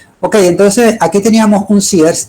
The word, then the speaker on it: Sears: En esa esquina anteriormente había un sears, por cierto, no se dice sear, sino sears, pero aquí todo el mundo le decía.